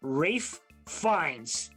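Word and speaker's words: Ralph Fiennes: what 1994 film starring rafe finds that's that's how he pronounces it because he's fancy huh he's fancy and john tuturo features the fictional game show 21.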